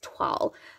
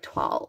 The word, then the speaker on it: toile: This is called Toile. I still don't think I'm saying that right, but it's Toile. It's like T-W-A umlaut L, like Toile.